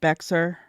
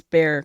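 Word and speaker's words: Bexar: kind of say um the county name is spelled b x a r but I guess like I was calling it beer but it's Bear County I I don't get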